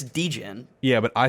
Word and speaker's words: degen: short for degenerate yes you say it like bogan like an australian person oh the way i pronounce yeah deegan like like bogan it's dejin yeah but i say